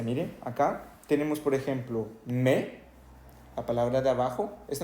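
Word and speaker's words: mais: pronunciar la i Ok acá no se pronuncia si decimos me no escuchamos ni la y ni la s verdad en la otra se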